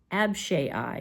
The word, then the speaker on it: Abishai: officers on David's side, and it was Joab, Abishai is how you pronounce it, and Ittai.